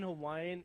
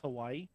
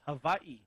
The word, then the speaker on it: Hawaii: it's not actually pronounced hawaii oh oh really yeah it's pronounced hawaii hawaii so the w is a body with a v only only if the w is in the middle of a word hmm if it's at